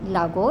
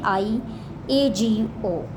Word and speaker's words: Iago: Okay, so I just pronounced actually mispronounced one word. Lago. It is Iago actually. I A G O.